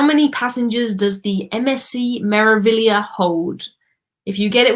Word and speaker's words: Meraviglia: Meraviglia. You just ignore the G.